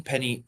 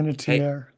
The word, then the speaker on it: Panettiere: Was like Hayden Penny. I suck with pronunciation, y'all. Hey, Panettiere, yeah.